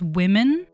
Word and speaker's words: women: I've seen a lot of people complaining about how more of us are pronouncing the plural word women like the singular word woman, and I think I finally have proof that that's true.